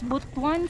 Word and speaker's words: Butuan: pronounce this city again i forgot how to pronounce it it's bhutton city but this where we are it's not